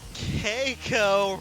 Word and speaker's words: Keiko: seven to one spot Keiko rhymes with Seiko He's Able doc keep